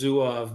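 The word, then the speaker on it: Zouave: I've in my lifetime I've heard of many pronunciations. Correct one is Zuov, but it has to do with um uh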